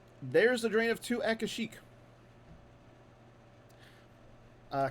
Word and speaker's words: Kashyyyk: the drain of two akashic uh kashyyyk as it's known uh normally however if you're watching star wars uh holiday special and you're wondering how they pronounce it is they pronounce it kazuk learned that the other